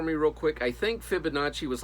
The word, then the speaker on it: Fibonacci: So is that, have you ever heard of like the Fibonacci sequence?